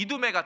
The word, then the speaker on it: 이두메: 그래서 이 여기에 살던 에돔 사람을 어디로 밀어냈냐면 지금 이스라엘 남쪽으로 밀어낸 게 여기 이두메가 된 거예요. 그래서 에돔 사람이 산다고 그래가지고 헬라어로 이두메, 에돔을 헬라식으로 발음한 게 이두메예요.